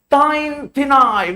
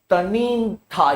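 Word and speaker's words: Tanintharyi: They also gave up Arakan, and they also gave Tain Thinai, which is a Tenasserim. ये मैंने गलत pronounce किया है. Tanin Thai है. Tanin Thai, yes.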